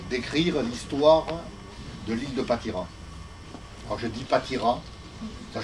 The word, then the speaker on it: Patiras: Dans les Médocains, on dit Patiras, hein, mais moi, dans ma famille, on a toujours dit Patira. Et lorsqu'on prend la carte de masse de 1723, il n'y a pas de S.